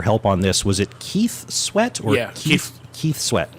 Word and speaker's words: KEF: Keith Sweat, but he also goes by KEF, but he pronounces it Keith.